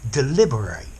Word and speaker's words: deliberate: and a verb, but the adjective has a different pronunciation and a different meaning to the verb. So the adjective deliberate and the verb to deliberate. So notice the ending of the adjective deliberate, it's unstressed, whereas the verb to deliberate,